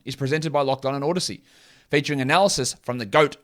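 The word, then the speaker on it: Audacy: which when i get the copy for those odyssey reads they tell me it's pronounced uh i'll just read it as odyssey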